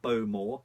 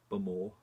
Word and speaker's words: Bowmore: more distillery but more not bow more as a lot of people call it it's not boom or it's burma bum b-u-m o-r one more good way